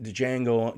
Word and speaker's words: Django: Pulp Fiction, Shakespeare and Love, Goodwill Hunting, The English Pation, Gangs of New York, Chicago, Dejang, Django, Django Unchanged, the D is silent, right?